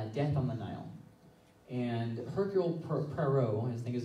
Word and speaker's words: Hercule Poirot: And Hercule Poirot, I think is how you say his name, he is the main detective.